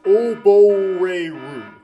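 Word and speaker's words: 溺れる: Okay, it's pronounced Oboreru.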